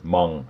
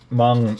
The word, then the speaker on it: Meng: But I also know that Meng, or Mung, I guess is how it's supposed to be pronounced. Mung make stuff like that as well, and I believe Bronco do as well.